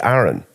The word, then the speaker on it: Aaron: be picked on so she called me Aon but the pronunciation of it is Aaron yeah but she picked